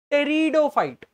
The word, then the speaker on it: pteridophyte: अच्छा, ब्रायोफाइट से आगे बढ़े तो आएंगे हमारे पास टेरिडोफाइट। पी इसमें साइलेंट है, टेरिडोफाइट्स।